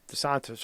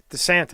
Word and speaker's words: DeSantis: DeSantos. I always say his name. How do I say his name? DeSantos. He's the best. DeSantos. Skinny Vinny. How do I say his name? Rick DeSantis.